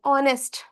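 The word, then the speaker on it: honest: क्योंकि यहाँ पे एच साइलेंट है।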